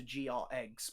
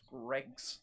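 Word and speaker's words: Greggs: need to go to GR Eggs because it is absolutely awesome. Bloody idiot. Just because of GR Eggs. GR Eggs. Well, another girl hears it and she comes behind. She goes, it's pronounced Greg's.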